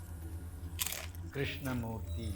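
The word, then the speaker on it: Krishnamoorthi: fell named Raja Krishna Mory okay I think I said it right this is how we pronounce the name Krishna morti okay I said it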